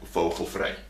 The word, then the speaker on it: vogelvrij: In Dutch, you have you have a term called vogelvrij.